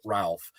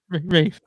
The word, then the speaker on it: Ralph: And that is, and I mess it up every time because he does not pronounce it Ralph. He pronounces it Rife or Ruffy. Reef. It's Reef Fiennes. Rafe.